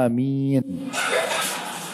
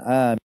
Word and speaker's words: Aamiin: dibolehkan adalah pilihannya ya yang pertama itu dengan memanjangkan huruf hamzah pernah lihat huruf hamzahnya Amin ya ada kayak ombak di atas bacanya Amin itu yang dibolehkan ya Dan ini yang terbaik kemudian ada pilihan yang kedua adalah hamzahnya tidak dipanjangkan cuma mengatakan Amin ya Tapi tetap panjang sedikit setelah mim karena ada ya Yang sukun